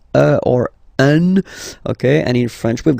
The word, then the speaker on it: un: and without any doubt, but you've got to pronounce it like un. So it's what we call the nasal, so it goes in your nose, okay? So if you listen to me, you don't hear any N, okay?